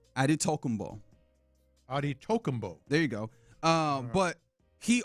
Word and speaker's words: Antetokounmpo: He says Giannis Antetokounmpo.